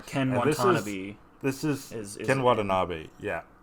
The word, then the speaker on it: Watanabe: where Ken Watanabe This is Ken Watanabe, yeah. Watanabe, yeah, there you go. I've never heard his last name pronounced, so there you go.